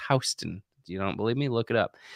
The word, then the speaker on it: Houston: If you're from New York City, there is a word that we have in Texas that is not pronounced the same way as it is in New York, and that is Houston. It's spelled Houston. It's what we call Houston out here in Texas, but it's Houston.